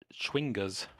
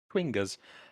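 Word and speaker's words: chwinga: enough uh these are swingers spelled really funny c-h-w-i-n-g-a yeah i had a really hard time pronouncing it as well to be fair quingas uh they're very small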